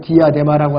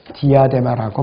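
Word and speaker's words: διάδημα: 헬라어 발음으로 디아데마라고 하는데요.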